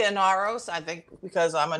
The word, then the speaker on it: Inaros: How do you pronounce? I say Inaros, I think, because I'm a New Yorker, but Naomi pronounced it Inaros.